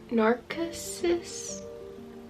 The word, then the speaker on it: Narcissus: and this is the Narcissus nurse nurses let's look it up how do we pronounce this narcissus Narcissus it sounds like a narcissist narcissist narcissus narcissus anyways